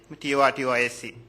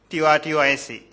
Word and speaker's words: tortoise: It should be tortoise, not tortoise."